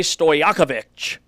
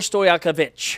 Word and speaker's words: Stojaković: Andre Stojaković who is the son of former Sacramento Kings Peja Stojaković Peja?